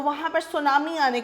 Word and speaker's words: tsunami: ये आपका हो लिखा जाता है TSUNAMI। इसके अंदर टी है वो साइलेंट होता है, तो हम इसको सुनामी पढ़ते हैं।